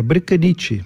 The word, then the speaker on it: Brkanitch: É assim a pronúncia? Bricanit. Como é que se diz, doutor Adolfo? Boa noite a todos. É Bricanit.